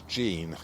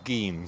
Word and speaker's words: gean: In fact, it's the wild cherry, and it's more commonly known as Gean, G-E-A-N as well, or Geen, some people pronounce it as.